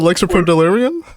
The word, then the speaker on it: Lexapro Delirium: all right thanks man so it's lex a pro delirium blank snap pro delirium